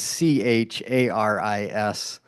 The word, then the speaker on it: Charis: and it's spelled it looks like Charis it's c a r i s uh but it's pronounced Caris in the prayer time like with